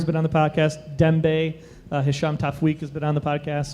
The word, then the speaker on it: Hisham Tawfiq: Hisham Tafweek. That's Yeah. because he actually did a liner for us, and that's how I know how to say it. That's true. This is Hisham Tawfiq.